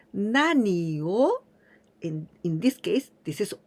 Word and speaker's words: 何: In this case, always with this pronunciation, nani, nani. When we use the particle o just after this nani, then we pronounce nani o.